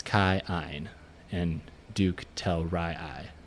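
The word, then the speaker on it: Telrii: Ray oen and then it's Kai and Duke tell Ry I right even though it's t l r i i you know that's how they pronounce it and if you notice we're not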